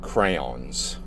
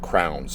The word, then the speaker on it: crayons: kind of look like crayons. Being from Jersey, I always pronounce crayon wrong. I always called it crowns.